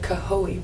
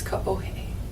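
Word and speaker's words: Kaohe: streets like our neighborhood was k-a-o-h-e Ranch we pronounced it kahoe but it's kahohe and um the highway that goes around the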